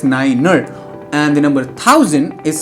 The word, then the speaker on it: niner: For example, the number 9 is spelled out as Niner, and the number 1000